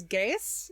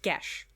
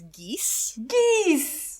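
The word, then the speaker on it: Geas: they proceed to cast a spell okay the pronunciation of this spell irks everyone says guess in this everyone says guess normally it is it's pronounced gesh because because it's like is it irish yes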